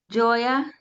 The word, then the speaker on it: Gioia: With that, I'd like to introduce you to Frank Gioia.